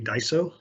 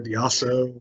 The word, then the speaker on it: Daiso: yeah first and foremost we pronounce the company Daiso that's not Daiso or diaso or Matt I'm trying to